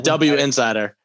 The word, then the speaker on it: Winsider: i believe it's pronounced winsider yeah it's a w insider a winsider okay everything's in print